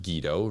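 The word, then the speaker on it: Guido: is Gido Van Helton guid O pronounced Gido rhymes with neidato um Van Halton and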